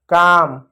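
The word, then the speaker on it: calm: तो इसको क्या पढ़ेंगे, काम पढ़ेंगे, काल नहीं पढ़ेंगे क्योंकि एल साइलेंट होता है, काम। इसको पाम पढ़ेंगे, पाल्म नहीं पाम, एल साइलेंट होता है।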